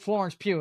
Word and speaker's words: Florence Pugh: to 2008, and put Florence Pugh in them. It's not even going to be a James Bond show, bro. Florence who? Florence Pugh. I am not mispronouncing that. Her name is Pugh.